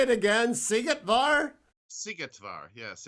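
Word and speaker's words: Szigetvár: that michael say it again see it var sigetvar yes it's uh you got to brush up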